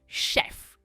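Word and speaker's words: chef: में, उसे कहते हैं शेफ. ये बहुत आसान है प्रोनाउंसिएशन. ये वर्ड भले ही सी से शुरू होता है, पर इसकी प्रोनाउंसिएशन शुरू होती है श से. इट इज शेफ.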